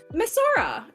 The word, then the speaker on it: Masora: Masora.